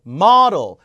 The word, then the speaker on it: model: 모델이 아니라 요 발음 model. 모델 아니에요. model. model. 뭐가 아니라 뭐고 D가 리을처럼 바뀌어서 르이 됩니다. 이게 model.